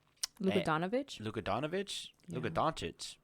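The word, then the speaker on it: Luka Dončić: Luka Doncic is more how it's pronounced.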